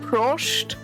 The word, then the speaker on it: Prost: Prost. It's like spelled like this.